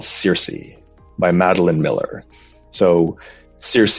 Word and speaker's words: Circe: So Circe, it's actually from the Greek goddess Kirke, but we pronounce it Circe.